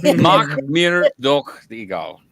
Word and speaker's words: Mach mir doch egal: That's how you say it. Mach mir. slowing it down. Mach mir doch egal. But you have to say it all in one go, and then there has